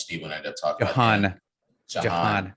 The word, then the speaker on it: Jahan: Just like one that you all heard throughout the year was Jahan Dotson, how much Steven ended up talking about. Jahan Dotson. Not Jihad.